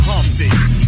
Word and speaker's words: Humpty: My name is Humpty, pronounced with the umpty.